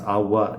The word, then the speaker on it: agua: But yeah, so guapa, agua, I would maybe pronounce agua just with the W sound, even though I usually pronounce guapa with the G sound.